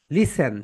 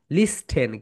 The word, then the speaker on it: listen: লিসেন, সবাই বলো লিসেন। LISTEN। এখানে হচ্ছে টি সাইলেন্ট লেখা, টি এর উচ্চারণ এখানে হয় না, সবাই একটু লিখে রাখো।